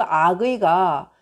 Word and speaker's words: 악의: 이럴 때는 연나라 장수 악위라는 사람이 있어요 이게 북유 아기의 발음으로 읽어요 연나라 장수 악의가 제 나라를 격파하고 연나라가